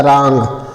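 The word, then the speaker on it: wrong: ओ आर जीी तो इसको लिखा जाता है रंग क्या लिखा जाता है रंग और रंग मस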